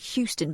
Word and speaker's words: Houston: This is Houston Press.